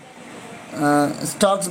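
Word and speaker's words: stalks: Green স্টকস, হ্যাঁ, স্টকস বলবো, এলের উচ্চারণ হবে না।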